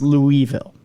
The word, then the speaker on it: Louisville: okay there's your proof I I say Louisville because that's what it is it's Louisville it's not it's Louisville there was no King